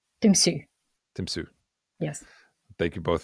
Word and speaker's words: Tymsy: Um, but again, thank you so much for joining us and yeah, the the name of the podcast is Tim Sue.